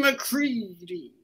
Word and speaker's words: McCready: Jesus, the way he said his own name should have tipped me off. Dixon McCready. Rhymes with seedy.